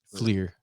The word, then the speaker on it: Fleer: How you pronounce that name? Flair? Fleer.